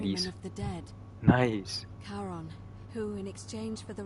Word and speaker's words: Charon: The name you heard wasn't Karen. It's Charon! C-H-A-R-O-N. Oh my god, ik wist dat het Charon was. Of Ferryman Hades. of the dead. Nice. Charon, who in exchange for